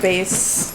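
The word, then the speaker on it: Béis: yeah i got her a base that's how you pronounce it yes base bag like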